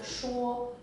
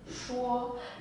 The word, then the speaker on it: 说: character is pronounced as Shuo, Shuo, and it can mean to speak or to explain, also to persuade.